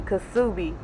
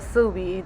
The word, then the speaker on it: Ksubi: because I was instantly ksubi, but it's just called ksubi. The K is silent, y'all.